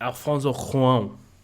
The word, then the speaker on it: Alfonso Cuarón: Alfonso Cuarón is actually how you pronounce it.